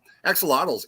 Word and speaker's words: axolotls: four baby catalogs analoxels how do you say that axolotls axolotls there we go axolotls in that tank for